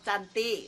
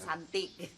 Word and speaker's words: cantik: Kamu cantik, bukan santik.